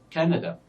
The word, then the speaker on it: Canada: me because it's longer we can say Canada Canada Canada so the first syllable here is stressed because it is longer than the other syllables so this only pronunciation